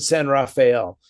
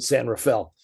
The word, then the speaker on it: San Rafael: well, because you pronounce it San Rafael, and everybody who's born here calls it San Rafael.